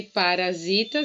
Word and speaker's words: parasita: padrinho paladar e pisotear notem que parasita se escreve com s e som de z assim como pisotear e aí é muito